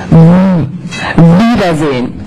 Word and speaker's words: Wiedersehen: The German W is pronounced like in Chinese. It's not English. It's not W. Don't do this. That sounds, that gives you, we don't have a W in German. All we have is W. And you can see that my upper teeth are on my lower lip when I'm pronouncing this.